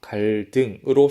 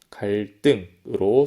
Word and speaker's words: 갈등: 우리가 적은 대로 입구, 담다, 갈등으로 소리내면 발음하기가 어렵겠죠? 수업 초반에 이 이야기를 했었습니다. 음운 변동이 일어나는 두 가지 이유 중에 하나가 발음의 경제성, 쉽게 발음하기 위해서였습니다. 입구, 담다, 갈등으로 소리내면 발음하기 어렵기 때문에 화면에 보이는 것처럼 입구, 담다, 갈등으로 소리를 내는 것입니다. 첫 음절의 종성의 비읍, 미음, 리을 뒤에 두 번째 음절 조성의 기역, 디귿이 된소리로 발음되는 것입니다.